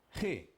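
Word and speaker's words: ה: Agora aqui, essa consoante chama-se Re. O que vai representar? Um H. Só tem uma diferença. O H no português, ele é mudo. Porém, em hebraico não. Será aspirado.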